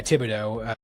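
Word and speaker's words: Thibodeaux: Thibodeau, or is that how you say it? Yeah, Thibodeau.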